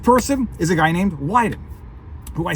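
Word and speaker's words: Wyden: is a guy named weiden who I say it's funny his name rhymes with Biden his name rhymes with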